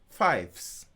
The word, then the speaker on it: Fyffes: Fives. It's spelled Fyffes.